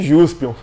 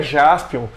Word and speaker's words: Jaspion: Jaspion seria a combinação das palavras em inglês, Justice e Champion. O que faria com seu nome nesse caso fosse Juspion. Engraçado, né? Porém, a pronúncia da palavra Justice em japonês é muito diferente. Seria mais ou menos Justice. E por isso, quando feita a junção das palavras, o nome do herói fica Jaspion.